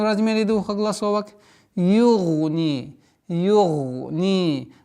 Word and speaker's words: يُغْنِي: Югни. Югни. Гайн твердый. Югни. Ударение кеср в размере двух огласовок.